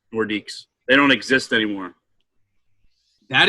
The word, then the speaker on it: Nordiques: I think it was Quebec, and it's pronounced Nordiques. Nordiques.